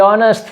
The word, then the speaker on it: honest: To be honest, fixeu-vos que en aquesta paraula la H no es pronuncia, una de les poques paraules amb H muda.